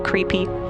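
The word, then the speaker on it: KREEP: they have a weird component that we call creep and it's spelled k re e e p in sent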